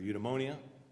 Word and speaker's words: eudaimonia: As we learned from the video, Aristotle uses the word eudaimonia, or eudaimonia, the British pronunciation's a little different, which means human flourishing,